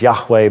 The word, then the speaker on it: Yahweh: jesus is identified as jehovah now the proper pronunciation is yahweh but there's no reason